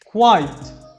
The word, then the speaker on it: quiet: الكلمة الأخيرة بقى الQU برضو نفس الكلام كوا بس الITE هتبقى زي كلمة sight دي هتبقى quiet.